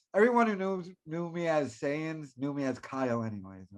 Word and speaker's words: Saiyans: don't know why is it so it is saiyans i thought it was scion zee no it's not oh anyone